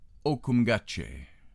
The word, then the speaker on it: Ohcumgache: The way to pronounce his name is Ohcumgache.